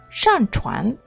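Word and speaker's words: 上船: How to pronounce boarding a boat in Chinese is 上船.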